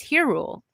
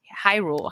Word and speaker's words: Hyrule: together to protect uh it's her rule. Hyrule Hyrule. It is Hyrule. Okay, I almost said it wrong.